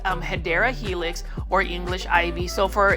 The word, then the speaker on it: Hedera helix: And you can see right here, we've got a Hydra Helix, or the correct way to say that is Hedera Helix, or English Ivy.